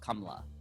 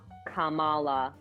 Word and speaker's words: Kamala: debate of whether it's kamla or kamla yes not kamala kamala yeah yes wow